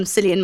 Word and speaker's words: Cillian: as well as i said you've got um cillian murphy or killian i'm not too sure how to say it